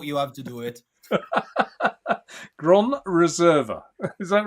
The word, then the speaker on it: Gran Reserva: Gran Reserva. Is that right? Yeah. Precise. Perfect. Yeah. Oh, precise. There you go. The only thing is you pronounce the R the English way.